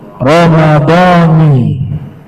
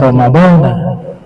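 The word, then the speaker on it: رمضانِ: malahan harus dibaca kasr tidak boleh dibaca fathah sehingga dibacanya itu naah Ramadani Jangan dibaca Ramadana Ramadani lillahiala nah ini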